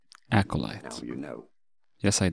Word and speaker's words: acolyte: to learn here aolite stress on that first syllable both Bish in American English pronunciations are similar here acolyte acolyte acolyte now you know yes